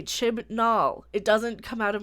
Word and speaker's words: Chibnall: It wasn't written by Chris Chinball, which I can never say his name right, so Chinball is sticking.